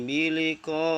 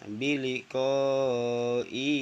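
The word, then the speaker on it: بلقاء: Wa inna katsiran minan nasi biliqa'i rabbihim lakafirun. Jadi lafalnya ada di biliqa'i, nggak boleh dibaca biliqa'i rabbihim, harus dibaca pendek.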